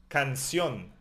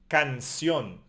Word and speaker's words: canción: Canción, the song. We emphasize the end.